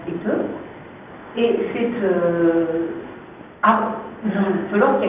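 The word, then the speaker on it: esteuf: Et ce qui se rapproche de la pelote basque, c'est ce qu'on appelle éteu, ou ça s'écrit estef, c'est prononce éteu, et c'est une pelote qui a été recouverte de peau de mouton.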